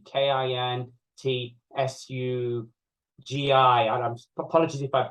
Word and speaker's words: kintsugi: Kintsugi is that you're defined by mistakes you've made, the breaks, the traumas in your life, everything like that.